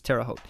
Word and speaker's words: Terre Haute: country town usa and i always have to look again because i never want to say it wrong but it's terre haute okay so cross country